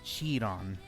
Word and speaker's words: Chiron: I believe I pronounced it Chiron, like Chi.